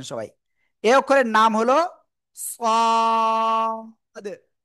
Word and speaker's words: صاد: এই অক্ষরের নাম হলো সাদ। অনেকে বলেন সাদ, না, সাদ। চার আলিফ টান, কয় আলিফ? চার আলিফ, সাদ, ঠিক আছে। সবাই জোরে জোরে বলেন, জোরে জোরে, সাদ।